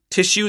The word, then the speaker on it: tissue: had the word tissue tissue that SS has an sh sound and that's in your